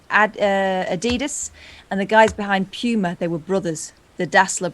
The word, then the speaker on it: Puma: it's not a Puma. It's like tumor, but from Arnold Schwarzenegger.